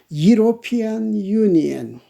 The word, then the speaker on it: European: In the second case, U, used one, is vowel but represents Y or Y sound.